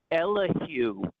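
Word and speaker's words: Elihu: His first name is Elahu. E L is for And you spell it E L I H U.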